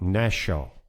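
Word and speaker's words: נָשָׁא: It's a word called nashal. Nashal is how it's pronounced, N-A-W-S-A-W.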